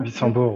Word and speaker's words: Wissembourg: Donc, c'était la mise aussi en valeur d'un vitrail, le Christ de Wissembourg. Je ne sais pas si je prononce correctement. Wissembourg, oui.